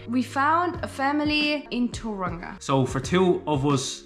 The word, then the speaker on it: Tauranga: to Tauranga, and we organized to another Facebook Tauranga. To pronounce it correctly. Tauranga. Everybody tells us. 10 months later and I still can't pronounce it. Tauranga.